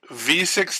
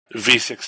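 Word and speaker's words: VVVVVV: website there they say this game is pronounced the letter v six times that's hilarious okay so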